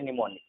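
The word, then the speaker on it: mnemonic: यहाँ इसे पढ़ते हैं निमोनिक, ठीक है, निमोनिक पढ़ते हैं। स्टार्टिंग एम से होता है बट इसे निमोनिक पढ़ा जाता है, एम जो है साइलेंट होता है यहाँ पर।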